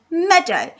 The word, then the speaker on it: meadow: Meadow doesn't sound right to me, but maybe the E and the A, it's making an alternate pronunciation. It's not making an E sound, it's making the E sound. So let's try that. M-E-D-O. M-E-D-O. Meadow.